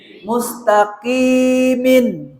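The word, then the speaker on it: مستقيم: এই কফ উচ্চারণ বোঝা যেতে হবে। আপনি যে কাফ বলেন মুস্তাকিম, আপনার নামাজের মধ্যে কি এরকম টেনে টেনে পড়ি?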